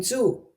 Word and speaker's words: Zoo: If we have double O, it's quite rare in German, but we just keep pronouncing it as O. We don't change it to U like you would in English.